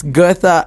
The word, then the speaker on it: Goethe: the name wrong again it's the G off is that good good yes Goethe Institut in Johannesburg because